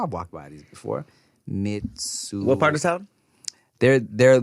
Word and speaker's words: Mitsuwa: Mitsuwa Marketplace, all right?